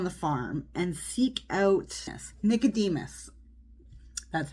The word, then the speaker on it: Nicodemus: a rosebush on the farm and seek out Nicodemus. That's how you pronounce it. Nicodemus.